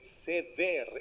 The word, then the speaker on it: Seder: Y de hecho, bueno, no es Seder, es Seder, es con acento en la última.